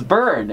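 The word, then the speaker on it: Bern: right actually you're wrong it's burn as in you will burn now oh my god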